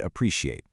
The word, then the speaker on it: appreciate: To really highlight this, just look at appreciate. When you fail to isolate and punch that primary stress on the antepenultimate syllable, the pre, the whole word just falls flat.